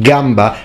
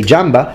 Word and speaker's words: gamba: k sound like kiesa church is then pronounced chieza with a che for that from our perspective that sounds absolutely awful and crazy I mean everyone knows it's pronounced Gamba and kiesa but for future Italians